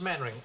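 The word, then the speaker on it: Mainwaring: Actually, it's pronounced Mannering.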